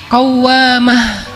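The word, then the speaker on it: قوامة: kalau rajin salat malam dikasih tasdid bacanya jadi qawwamah berarti sayidah Hafsah rajin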